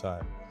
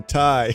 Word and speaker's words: Ti: Guys, it's not TI. If you say TI, you're saying it wrong. NVIDIA blew millions in their budget for the year to let us know in that, whatever, that electronics show that we were saying TI wrong.